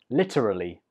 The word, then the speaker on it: literally: 13 is a word I use a lot, and it is literally. Literally. This word has four syllables. Literally. Literally. And the stress is on the first syllable.